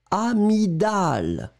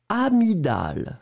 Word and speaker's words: amygdale: Et attention, je le prononce deux fois. Une amygdale. Une amygdale.